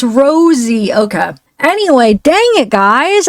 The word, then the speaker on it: Rozzi: It's pronounced Rosie, not Rozzy.